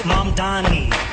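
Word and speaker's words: Mamdani: The name is Mondani.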